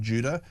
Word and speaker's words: Judah: And a second interview with a guy called Ben Judah. Judah is spelled J U D A H.